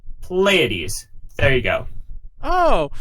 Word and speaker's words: Pleiades: But for anybody who's worrying, for anybody who's not worrying, questioning it, Pleiades, P, Leia, like the Star Wars princess, D's, Pleiades.